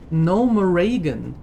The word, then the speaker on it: Gnomeregan: No moragan. Yes, as is the proper pronunciation as we learned. No moragan. Not or something or no morgan.